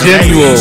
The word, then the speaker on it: Genial: It's spelled GENIAL. Back to when we first met, I was your first love. I got you. I will. Like I said, I'll post it for everybody because that's called genuine water. Genuine water is how you pronounce it.